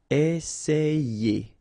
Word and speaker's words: Essayer: And then you've got another E here, and then you get the sound ye. Essayer.